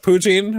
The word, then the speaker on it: poutine: They also have poutine, which is nice.